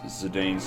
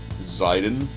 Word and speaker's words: Zidane: Mega Magicite says, then again, Dissidia also pronounces Cecil's name with a short E rather than a long E, and pronounces Zidane's name as Zidane.